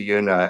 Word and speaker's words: Juna: I am at the official Una, and Una is spelled with a J on Instagram.